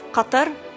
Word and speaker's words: Qatar: cotton candy and rainbows what is the definitive pronunciation is it cutter qatar a gutter we've heard all three arabic actually it's qatar okay how would i say it help me cutter great deal has been going on in the